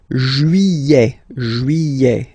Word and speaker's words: juillet: Okay, you get this double L here. Juillet. Don't pronounce this final T, E-T here at the end. Juillet.